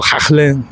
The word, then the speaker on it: Haaland: something important there with Haaland, or Haaland, as they pronounce it in Norwegian.